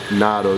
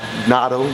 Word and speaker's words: Nato: It's not Nato, more than NATO, stuff like that.